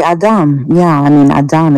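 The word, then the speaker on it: אדם: I would like to know, how do you pronounce Adam in Hebrew? Adam. We say Adam.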